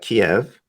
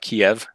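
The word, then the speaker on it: Kyiv: sh- the size of Kiev, right? I said it right. I don't know. It seems to be some debate now. I was always taught Kiev, but now Kiev, apparently it's Kiev.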